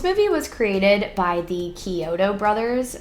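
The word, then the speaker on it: Chiodo: was created by the Koto Brothers which I always want to pronounce as choto because of the band chotos which I used to listen to all the time in high school and I totally don't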